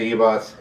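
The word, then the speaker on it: Ribas: Amanda Ibas, that's how you say her name.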